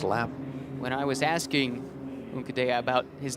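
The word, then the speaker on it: Juncadella: He said, you have to say it Daniel Hunkadea. You must say it slowly, I was told.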